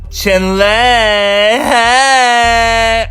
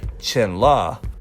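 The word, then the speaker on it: 辰乐: all right brace yourselves chin leg I'm kidding the Korean Hangul and English romanization czar both sort of wrong because his name in Chinese is actually Qin law like the true pronunciation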